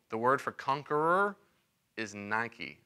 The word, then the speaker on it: Nike: The word for conqueror is Nike. It's actually pronounced Nikki.